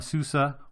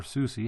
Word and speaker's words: SUSE: the falcon sensor on a Susa or SUSE however you prefer to pronounce it 11 enterprise server